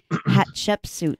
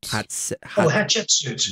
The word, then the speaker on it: Hatshepsut: Hatshepsut. Hatshepsut. Yes. The way that you remember her name, is you remember it as hot chicken soup.